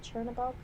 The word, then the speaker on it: Chernobog: Chernobog? yeah. Chernobog, yeah. Chernobog gave me nightmares. And I'm just disappointed that they didn't have like the Night on the Bald Mountain. Yeah. Like playing in the Chernobog episode.